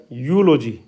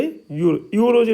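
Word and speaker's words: eulogy: होता है इसमें होता जैसे य पर यू है ना तो यह क्या बनेगा यूलॉजी क्या बन गया य लजी नहीं बनेगा यूलॉजी ठीक है कई बच्चे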